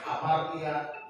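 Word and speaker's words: ἁμαρτία: A dikasih tanda nafas, hamartia, gitu.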